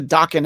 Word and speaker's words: Dokken: Here you get what it is, but like, it's more like, hey, what's a Dokken anyway, Right, it rhymes with Rocklin.